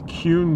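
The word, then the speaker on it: Kuhn: known as Central Avenue and um this is cun Street cun is spelled k u hn and why is that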